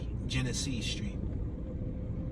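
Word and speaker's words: Genessee: Genesee? G-E-N-E-S-S-E-E. Genesee Street. Like Hennessy, but Genesee.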